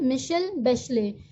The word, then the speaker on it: मिशेल बैशले: जनवरी 2006 में मिशेल बैशले, इसे हम कैसे प्रोनाउंस करते हैं, मिशेल बैशले, ये प्रेसिडेंट बनी जनवरी 2006 में चिले की।